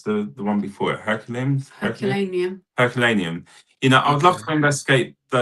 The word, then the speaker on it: Herculaneum: And you know, and is it how do you pronounce the one before it? Herculaneum.